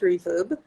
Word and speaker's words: RVRB: So we literally took out the vowels. So it's pronounced reverb.